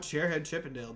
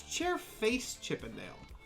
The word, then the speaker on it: Chairface Chippendale: Well, I have no idea what Chairhead Chippendale does, so this is gonna be a learning experience for... Oh, I'm sorry. It's Chairface Chippendale. I've been saying it wrong the entire time.